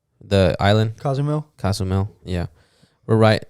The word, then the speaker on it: Cozumel: Like we're right across Consumel, the island. Cozumel, yeah.